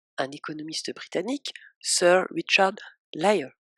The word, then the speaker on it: Layard: C'est drôle parce que son nom, si on le prononce plus ou moins bien, ça ressemble quand même vraiment à menteur. Sir Layard, L-A-Y-A-R-D, ça ressemble phonétiquement à liar, L-I-A-R, et qui veut dire menteur.